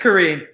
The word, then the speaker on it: Koryn: say it wrong sometimes is it karen or korin it's korean correct what'd i say oh correct hawthorne is with us rue you've been saying corinne all day it's okay